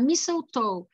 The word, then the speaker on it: mistletoe: mas esse T quase eu não pronuncio, então fica mistletoe.